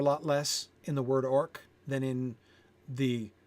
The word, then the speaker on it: orc: wants it to make wants to make sure everyone's pronouncing that with a hard c and of course the stakes are a lot less in the word orc than in the names